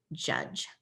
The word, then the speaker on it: judge: All right, in this first word, I see DGE. That works together to make a j sound. So this word only has three sounds in it: j, judge.